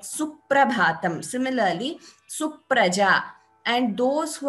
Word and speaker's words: Suprabhatam: When you get a double letter pronunciation. So one example is suprabhatam.